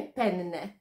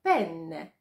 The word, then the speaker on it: penne: nie wymawiać podwójnie głoski to nie penne to penne trzeci błąd sprawia nam